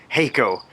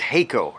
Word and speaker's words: Haico: I want to actually quickly, before we get into that, I want to apologize to Haico. His name is Haico, not Haico.